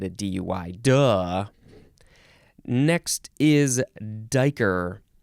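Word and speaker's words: duiker: DUI duh next is Dyker d-u-i spelled spelled different than what you might think d-u-i-k-e-r noun from 1777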